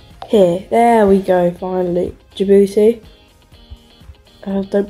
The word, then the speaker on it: Djibouti: Djibouti. Don't pronounce the D. There is a D, but you don't pronounce it.